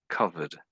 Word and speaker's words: covered: Yeah, I think you're saying a T on the end. It sounds like a T. You're putting a T there. It's more like a I think this one is more like a D.